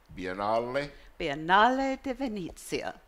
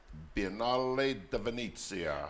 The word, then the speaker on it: Biennale di Venezia: Before we go, let me try and pronounce this properly again. Biennale di Venezia. Biennale di Venezia.